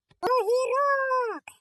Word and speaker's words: Огірок: Огірок. Кличемо його. Огірок. Наголос падає на О.